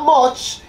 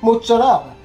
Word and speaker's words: mozzarella: And she says it's not fresh mutz. It's not mutz, it's mozzarella.